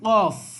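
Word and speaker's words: ق: এখানে দেখেন কাফ, কাফ স্বাভাবিকভাবে, কফ এটা গলা থেকে আর কাফটা হবে স্বাভাবিকভাবে সামনে থেকে বা হলকের মাঝখান থেকে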